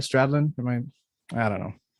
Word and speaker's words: Stradlin: the song did I say his name right stradlin am I I don't know that's right that's